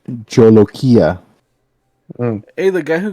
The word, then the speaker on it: jolokia: be northern india oh the jolokia or jalakiya that makes sense it's pronounced jolokia oh hey the guy